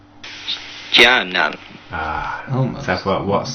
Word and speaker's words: Stjarnan: And we've got some pronunciations for you. This is an Icelandic team, famous for the celebrations. Starnan. Starman. Stjarnan.